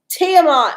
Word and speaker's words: Tiamat: Okay, let's see how I mispronounced this one. Tiamot. Here we go. Tiamont.